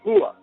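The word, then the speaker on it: هو: Él en árabe eh referido a Dios se dice jua, pronunciado con con no como h aspirada, sino con lo más profundo de de la garganta, cerca del esternón.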